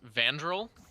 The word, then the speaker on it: Vandrel: Of note, Bam asked to have his name pronounced Vandrel.